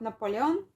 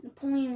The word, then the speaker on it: Napoleon: Okay, so We don't do you know about Napoleon?